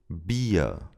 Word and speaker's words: Bier: In all other cases, it sounds like a schwa sound. Bier, mir, Wurst.